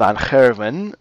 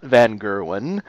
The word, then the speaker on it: Van Gerwen: that little note about his name it actually is on heaven not Van Gerwen so if you want to sound smart and when you're talking to Dutch people say his name like that and they'll be like